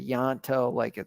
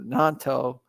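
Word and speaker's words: Gnonto: Willie Nanto, I always mispronounce his name. I want to say Yanto, but Nanto, and his performances, what do you think of him?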